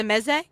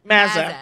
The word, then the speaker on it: mezze: Okay, little pizza mezze. How do you pronounce it? Mazza. Mazza. Mazza. Like a long A.